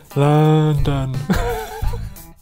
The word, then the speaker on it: London: see you next week now in order to make the schwa sound do you have to make a noise a little bit like a zombie London London London